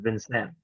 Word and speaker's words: Vincennes: It's spelled funny, but it's pronounced Vincent.